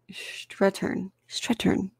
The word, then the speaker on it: Strathairn: Strathairn. David Strathairn. I was mispronouncing it the whole time.